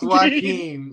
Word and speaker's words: Joaquin: It's Joaquin, my boy. Joaquin. I had to get it together. It was one of them names that you know is spelled foul. I had to think of Cuz from the Joker movie to remember how to say my name right.